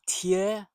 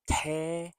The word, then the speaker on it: tear: So tear rhymes with ear, your ear.